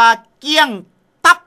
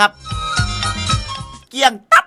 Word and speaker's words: เกลี้ยงตับ: ขอ เสนอ คำ ว่า เกี้ยง ตั๊ คำ ว่า เกี้ยง ตั๊ ครับ หมาย ถึง ว่า หมด เกลี้ยง ไม่ เหลือ ออก เสียง ว่า เี้ยง ตั๊ นะ ครับ หมาย ถึง ไม่